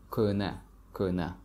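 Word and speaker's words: кӯҳна: The word کهنه, which means old, usually people don't pronounce he in the middle. So it sounds like کهنه without he.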